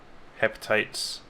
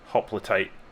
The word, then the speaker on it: hoplites: So, we have spearmen, hepatites, is that how you pronounce it? Hoplites, yep.